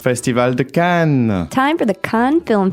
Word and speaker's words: Cannes: A lot of times we pronounce it cans. You don't say that. How do you say in French? Can. Can. That's right. And you say can because you don't pronounce the s at the end.